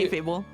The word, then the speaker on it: kayfabe: The Fabe part is pronounced like fail, but with a B instead of an I. Fable? Alright, Fable. Yeah, Thank you. K-Fable.